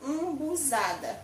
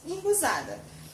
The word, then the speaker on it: umbuzada: Esse é o jeito certo de falar, umbuzada. Mas a gente fala aqui embuzada.